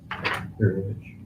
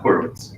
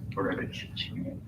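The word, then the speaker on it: Hurewicz: That's how it's pronounced. Is that Polish? Polish. Yeah. Gurevich. It's not Horowitz, it's Gurevich.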